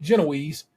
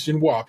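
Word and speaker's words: génoise: a vanilla ginoa I like that the Americans pronounce it ginoa and like the British who call it genoise it is ginoa people sponge with a colored inlay and I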